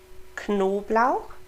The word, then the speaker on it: Knoblauch: So, Knoblauch, remember to pronounce that K and N, kn, and Pflaumen, the PF, pf, Pflaumen, zu.